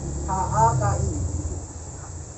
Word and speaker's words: HKI: Jadi HKI itu tulisannya itu HKI, tapi H, K sama I. Jadi tapi kalau bacanya HAKI.